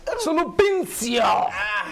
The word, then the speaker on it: Sulupincio: But it's easy, Sulupincio. Sulupincio. Pronounce with a sex a romantic tone.